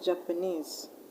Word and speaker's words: Japanese: Now words that end in ESE, you should also stress the last syllable, like Japanese, legalese, etc.